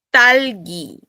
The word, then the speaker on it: 딸기: Existe una palabra en coreano que es fresa y es talgi. 딸기, Talgi con T aspirada.